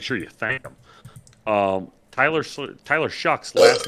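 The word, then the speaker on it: Shough: Falcons beat the Saints in New Orleans, and Sean wanted to apologize to you about I was saying Tyler Shaw and telling you that it was Tyler Shaw.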